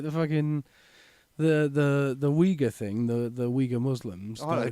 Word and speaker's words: Uyghur: It's Uyghur, not Wigger, though.